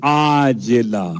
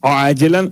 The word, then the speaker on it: عاجلہ: ایسی نیند کے عاجلہ، وہ جو آپ کہتے ہیں معجل اور معجل عین کے ساتھ، یہ عاجلہ عین سے ہے، ہو سکتا ہے میرے تلفظ میں آپ کو واضح نہ ہوا ہو اس لیے میں نے کھول دیا، عاجلاً عین سے، ایسی نیند عطا کر